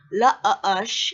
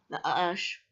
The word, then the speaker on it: Lush: Lush, okay, La-Ush is how you pronounce it. La-Ush.